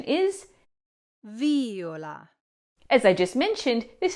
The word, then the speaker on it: viola: When this is pronounced with the accent on the first syllable, as in Viola, this is the third person of the verb violare, meaning he or she violates. But when the accent moves to the second syllable, as in viola, then it means violet, as in the flower or the instrument.